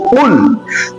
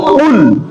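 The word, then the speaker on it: قُلْ: শব্দটা আমরা যখন বলবো কুল কফের উচ্চারণটা গলার মাঝখান থেকে এমন ভাবে উচ্চারিত হবে যাতে ছোট কাপ যে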